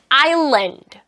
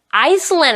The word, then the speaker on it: island: 그리고 한 가지 더, 여러분들이 가장 많이 실수하는 island, Iceland 아니고요, island입니다.